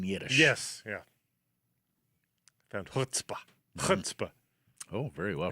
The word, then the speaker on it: chutzpah: Chutzpah. Oh, very well pronounced.